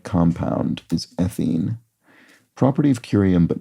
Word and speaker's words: curium: Property of curium, but not Oh. Oh, it's a hard C. It's not a property of the substance. It's the word itself. Curium has a hard C and serium does not.